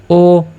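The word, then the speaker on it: ho: এইচের তো কোনো উচ্চারণ হচ্ছে না, যার কারণে ও আমরা বলবো ও লাভুরাতো।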